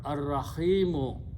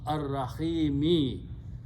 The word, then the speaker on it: Ar-Rahimi: After that is the word Ar-Rahimu, but we pronounce Ar-Rahimi.